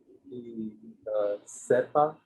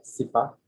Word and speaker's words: sipa: Sepa Mhm. versus sipa. Yes, sipa. Sipa. Yes, sipa. Yeah, the accent is in the first syllable there.